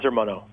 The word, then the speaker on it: Ermanno: n g all right uh armano am I pronouncing your first name correctly uh very close the name is armano armano pardon the call thanks for being a